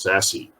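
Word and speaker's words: SASE: access service edge and it's sometimes pronounced sassy secure access service edge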